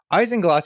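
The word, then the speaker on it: isinglass: how to pronounce it because it's not spelled the way you'd think so I looked up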